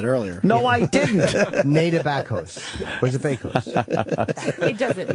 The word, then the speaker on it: Bakos: Bakos is Polish.